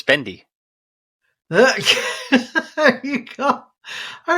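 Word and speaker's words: भिंडी: out there yeah uh bendy or Bindi is the pronunciation that's the uh what we say is Hindi word for uh for okra next time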